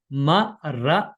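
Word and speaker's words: มะระ: 당신 은 짧고 간결 한 어조로 " 마라 " 라고 읽었습니다 . 높은 톤 으로 , 음량 을 높여서 읽어야 합니다 . " 마라 " 라고 외치세요 .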